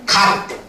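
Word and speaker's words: 값: 이게 있단 말이야 맞지 그러면 얘를 우리는 바 발음을 어떻게 하는 겁니까 갑 이렇게 발음을 하지 이렇게 발음을 하지 이렇게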